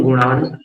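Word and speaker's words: गुणान्: वक्तुम गुणान, गुणान पर रुकना है क्योंकि हलंत है ना।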